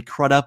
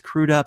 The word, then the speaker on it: Crudup: Jared Leto, as he often says, and it was mispronounced as Billy Crudup when it's Crudup.